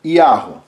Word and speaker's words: Yahweh: E a gente pronuncia ele como Yahweh, ok?